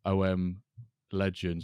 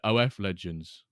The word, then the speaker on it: OM Legends: It's definitely, it's OM Legends, not OMF Legends. Yeah, it's OM Legends, OMF. There we go. But Mr. K kept pronouncing it OF Legends.